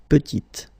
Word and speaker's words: petite: Final T is not pronounced, and then when you add this E at the end, you get the sound T, T, petite.